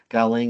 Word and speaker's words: galing: umbrella branding campaign called galing USA this year galing is a Filipino word with two meanings depending on how it is pronounced if the intonation is on the first syllable GA that means from if it the emphasis